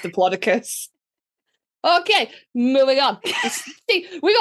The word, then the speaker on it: Diplodocus: And he was like, it's Diplodocus. And I was like, I love you, but it's not. Okay. It's actually pronounced Diplodocus.